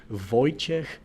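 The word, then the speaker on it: Wojciech: Um, I will say this again, Voyek Patchek, for everyone that is struggling out there to pronunciate his his name.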